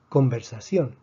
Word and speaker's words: conversación: Conversación tiene 4 sílabas. Vemos que termina en consonante, que es una N. Por lo tanto, predecimos que esta N debería tener entonces la palabra la fuerza en la penúltima sílaba. No la tiene en la penúltima sílaba. Escribimos entonces el acento de excepción.